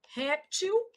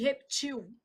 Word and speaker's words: réptil: Então você tem algumas aqui bem interessantes, uma que já caiu em prova, ó, vou colocar aqui para baixo, ó, réptil e reptil.